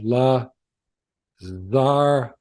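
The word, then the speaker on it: לְזַרְעֲךָ: Say this word, la zaracha, and the last sound is not coming from the Shewa beneath the resh, but it's coming from the chatef patach, the half vowel, the reduced vowel beneath the silent consonant ayin, lazaracha.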